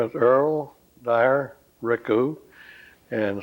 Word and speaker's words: Ricou: My name is Earl Dyer Ricou, and spell it by Ricou. Okay, and so you pronounce it Ricou.